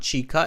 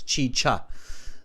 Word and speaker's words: chicha: okay so Carolina says uh chicha it's both cha Chi it's not chica it's chicha thank you Carolina is from Colombia so she knows how to pronounce it see we're global thank